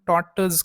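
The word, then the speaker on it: tortoise: the hair and टॉट आता टीओ आर टी ओ आय एस आता याच प्रोनन्सिएशन आपण टॉटज करतो आरचा उच्चार आपण करत नाही आता टॉटस म्हणजे काय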